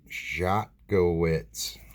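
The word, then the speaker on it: Szotkiewicz: Sound it out. Schakowitz. Yep, that's how you say it.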